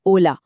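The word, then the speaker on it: hola: अगर आपने हमारा साइलेंट एच वाला नियम याद रखा है तो आपका जवाब बिल्कुल सही होगा। हेलो है olला। और थैंक यू के लिए हमने सीखा था ग्रासियास।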